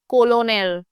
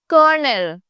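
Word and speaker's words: colonel: you pronounce this word you don't say कोलोनल यू से कर्नल एज if there is एन आर इन the middle so let's check out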